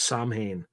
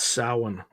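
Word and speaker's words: Samhain: Yeah, sin. That's how you pronounce it. I used to I used to think it was Sam Han but it's sin.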